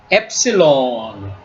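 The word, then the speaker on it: ε: 한글의 디귿 발음입니다 디귿 그다음에 엡실론 엡실론 엡실론 하는데요 엡실론 요거는 모음입니다 모음인데 발음입니다 그래서이은 단모음 애입니다 단모음에요 밑에 보면 이제 장모음 에가 나옵니다 단모음의 발로입니다 그다음에는 제타 제타 제타는 한글의지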